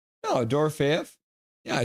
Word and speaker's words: Dorofeyev: Oh, I always say that guy's name wrong. No, Dorofeyev.